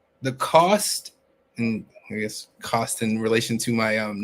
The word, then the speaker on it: Costen: misp pronounce my name it is the cost of money the number 10 put those two together is how you get